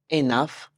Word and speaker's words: enough: Now doctor almost there enough rhymes with Tough Enough rhymes with Tough